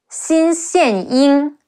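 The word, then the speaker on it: Xin Xianying: Some other notable characters, Xin Xian Ying, Xi Yin Xin, C-E-N, Xian Ying, Xin Xian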